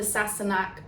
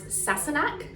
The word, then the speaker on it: Sassenach: So this is from the Sassenach. I say Sassenach sometimes because I'm pretty sure that is the Irish Gaelic way of saying it, but the way it's pronounced in Outlander is Sassenach.